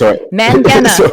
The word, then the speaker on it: Mangena: Mangena, everyone. I said it wrong, and I will say it correctly. The E confused. The E after the G makes everything confused.